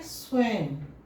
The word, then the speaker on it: स्वयं: इसलिए हम इसको पढ़ते हैं स्वयं, म कहते अंत में।